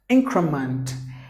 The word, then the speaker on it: increment: Any word ends with ment, you have to pronounce it like mont, not like ment, which some of the ESL speakers would pronounce it so. So increment, 3 syllables. You have to give the stress in the beginning.